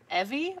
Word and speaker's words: Hebe: using what I call Hebe. If you look it up under the Greek pronunciation, it's like Evi or Evi.